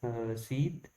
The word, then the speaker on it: receipt: Find the silent letter in the world's receipt. RPTC. So the right option is P. P is silent in this sentence, in this words.